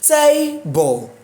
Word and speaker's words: table: Table. The stress is on tay. TA is capitalized.